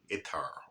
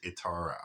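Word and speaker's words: attar: Middle East as an itar oil I believe that's how they pronounce itar atar it's spelled like atar but I believe it's pronounced itar anyway the this is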